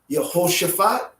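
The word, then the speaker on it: Yehoshafat: them hebraically okay so if you're accustomed to hearing these names in english with that eye no that's not the way it's done okay so we have uh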